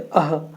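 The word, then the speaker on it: ः: विसर्ग का चिन्ह है जिसका उच्चारण हलंत ह की तरह होता है इसको कैसे बोलते हैं अह करके बोलते हैं ना ह में हलंत लगा देंगे तो इसका हम उच्चारण इस तरह से करते हैं आइए देखते हैं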